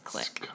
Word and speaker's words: clique: of spelled clique, Kind of. but it's not. It's click. Pronounced a clique.